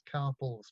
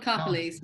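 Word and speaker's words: Karpeles: And that was collected by, I'm not sure how to pronounce this lady's name, I think it's Carpels, but I'm sure you've heard of Maud. Maud Carpelese, yeah, sure, yeah.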